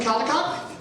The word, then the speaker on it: Caldicott: Justin Caldicott from Redgate. Did I pronounce it correctly?